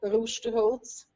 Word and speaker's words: Rusterholz: it's it's a you it's called rooster holds oh roosterholds is that yep good very good pronunciation very good well you